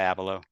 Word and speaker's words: Abelow: And I've so I've been pronouncing your last name incorrectly this entire time like an idiot. Abelo, not Abel. Abel. Totally fine. I got cousins who go by Abalo.